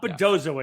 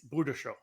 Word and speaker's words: Budashow: So, hey, David, it's not Bodozo anymore. I say it that way. We've been corrected. It's Budashow. Or something close to that.